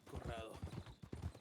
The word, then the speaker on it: Corrado: Corrado. You gotta roll the R.